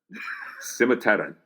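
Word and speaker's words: Cimmerterran: Okay, so in Czech, the C at the front is pronounced with a TS sound, not s. Mm-hmm. So you got to kind of hiss it with that sound there, and then you can see here, Simmerterran.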